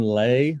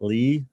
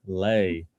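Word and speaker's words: Lê: I was going to say the correct pronunciation is Van Lay, not Lee, Lay. So Vietnamese last name.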